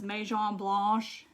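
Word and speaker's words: Maison Blanche: the white is yeah all that's french down there so it was meijon blosh is how you say it um are you raised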